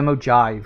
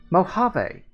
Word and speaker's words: Mojave: Actually, I think I called it the Mojive because I thought that was funnier when I was uh first playing this. But no, apparently it is pronounced Mojave.